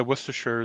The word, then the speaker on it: Worcestershire: well i don't disagree nathan just um yeah worcestershire they um see that's how you say it